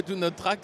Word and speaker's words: Do Not Track: Le Do Not Track, ça se prononce, si on est bilingue, c'est Do Not Track.